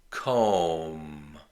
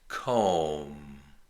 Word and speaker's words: comb: Comb. There's no B sound. The B is silent. Comb.